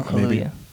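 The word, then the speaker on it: Kaluuya: messiah because both with keith stanfield and daniel kailua that's how you say his name right uh kaluya okay um both of them were nominated as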